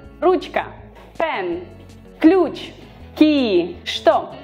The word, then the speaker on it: Что: Что, we write the letter Ч, but we pronounce Ш.